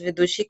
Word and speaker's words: Vidushi: And next we have our guest with Duche. I just pronounce it, hopefully it's correct again. Hello, my name is Vidushi, and one place I want to visit is Leh in India.